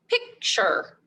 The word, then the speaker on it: picture: you know that because the t-u-r and e stand for the c-h cha and er er sound picture so but when you read this word picture you have to remember to pronounce it with the letters t u r so our tricky word